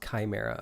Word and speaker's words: chimera: Pronounced chimera.